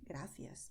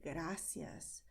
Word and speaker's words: gracias: Because, as I told you, this is the way we pronounce in Spain generally, gracias. But you also can say gracias, the way it's pronounced in Latin America.